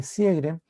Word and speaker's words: Sjögren: el llamado síndrome de sjögren que se escribe sj o que rn y con diéresis en la joven entonces el síndrome de cierre es una enfermedad autoinmune